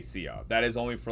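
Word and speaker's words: szia: how to say hi in Hungarian blueberry is Sia it's spelled s z i a Sia and it's saying it's how you would pronounce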